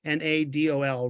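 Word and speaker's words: Refik Anadol: It's Anadol, Refik Andol.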